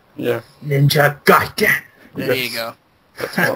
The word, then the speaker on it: Ninja Gaiden: You gotta say it like the wizard, like the guy in the wizard, like Ninja Gaiden. Yeah. Ninja Gaiden.